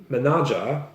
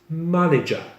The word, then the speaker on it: manager: But a person who is responsible for a company is not called manager, but it's manager.